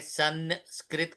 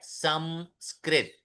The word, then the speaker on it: संस्कृत: यह शब्द है संस्कृत हम लोग हमेशा नकार डालते हैं। संस्कृत कहते हैं। सही शब्द है संस्कृत।